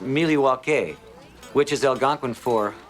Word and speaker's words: Milwaukee: Actually it's pronounced Milywake which is El Gangquin for the good land.